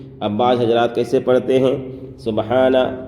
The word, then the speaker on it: سبحان: سبحان ربی الاعلی، سبحان، یہاں پر ہا کو ظاہر کرنا ہے، سبحان ربی ربی، یہاں